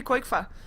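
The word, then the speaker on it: Qojqva: actually uh epi asks how koi5 was actually pronounced and it's actually quick fa i have been pronouncing it properly all these times i'm giving myself a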